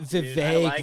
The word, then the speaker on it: Vivek: Vivek rhymes with Vivek. cake.